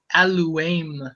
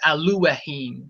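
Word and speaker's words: אלהים: So it should be aluim. Aluim instead of aluahim. I've never heard in Hebrew any sound of aluheim. That sounds really bar like the nonsense. Aluahheim doesn't no one says it like that. But aluim that sounds very similar to Elohim.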